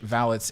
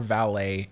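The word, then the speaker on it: valets: I did my research vallots is a correct way to say valids you can say vallots or valet it doesn't matter both ways are acceptable they have been used in history so um but it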